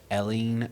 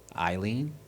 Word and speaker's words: Eileen: number four which actress played a character named Ellen Ridley in the movie Alien I don't know that's not how you say her name though Eileen Eline e-i-l-l-l-e-e-n-i-l-e-e-n that's Eileen yeah Eileen um Bradley